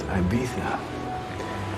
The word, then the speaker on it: Ibiza: It's pronounced Ibiza.